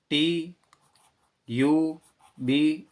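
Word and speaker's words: tube: टी यू बी E, consonant you consonant ई, तो इसका उच्चारण करेंगे तो ये टे आधा, यू बी ई का ये पूरा अक्षर ट्यूब।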